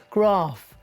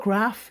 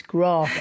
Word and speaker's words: Graf: the first person who's ever interviewed us who's pronounced our name correctly graph it's not graph it's graph and you are the first i kid you